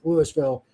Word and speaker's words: Louisville: Spelled like Louisville, but it's allegedly pronounced Louisville.